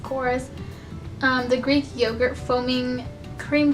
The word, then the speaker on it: Korres: month is the Korres I don't know how you pronounce it it's Korres chorus the Greek yoghurt foaming